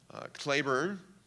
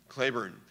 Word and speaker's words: Cleburne: patrick claiborne after whom cleburne county county texas is named i guess it's cleburne county but it's named after general patrick claver and spelled the same that's how he pronounced his name claiborne probably the best division